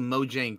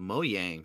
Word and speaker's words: Mojang: used to call it I just called Mojang too but I think during one issue they're like oh it's called mo yang so that's how I